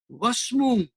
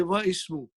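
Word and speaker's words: واسم: See, I did not pronounce Hamza. Why? Why did you not pronounce Hamza? Because it is Hamzatul Wasal. And because Hamzatul Wasal is there and waw came in front, so I cannot say wa ismu. I have to say wasmu.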